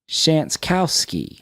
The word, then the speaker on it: Shantkowski: Shantkowski. I'm sorry. Is that how we do that? It's dude, you gotta give me that. Shantkowski. Really, I've been saying it wrong the whole time.